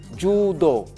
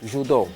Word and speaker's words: judo: atenção os na L na pronúncia japonesa é é chamada de é pronuncia-se judo judo nós aqui em África angolanos e moçambicanos os portugueses dizem judo o brasileiro diz judô judô mas a pronúncia do Japonês é judo se você for angolano